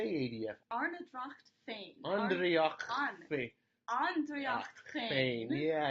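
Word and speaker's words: Ár nDraíocht Féin: Arnedracht Andreachfain.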